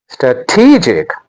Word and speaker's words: strategic: participation Our next word is strategic stra tegic Not a strategic. The stress is on te stra tegic strategic Listen again.